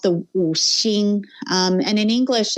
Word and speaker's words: Wu Xing: in Mandarin or in Chinese, it's called the Wu Xing. And in English, it's loosely translated phonetically to a word called Wu Xing.